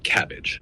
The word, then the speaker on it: CABG: coronary artery bypass grafting better known as cabg pronounced cabbage uh it's one of